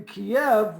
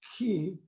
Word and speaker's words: Kyiv: In Kiev, which is now obviously pronounced Kyiv, there are several streets where entrepreneurs can sell their goods to tourists.